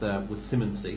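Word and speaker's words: Simonsig: I know that Ronnie Bartlett, who owns Rathfinden, won this with Simmonsy, to give it its correct pronunciation.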